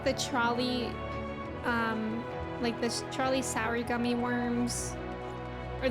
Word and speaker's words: Trolli: Yeah, it's Trolley, but it's spelled Trolli.